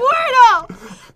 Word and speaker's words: Squirtle: Squirtle!